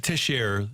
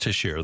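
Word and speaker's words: Texier: before the opener but they got tisher I guess it's pronounced tisher the center that they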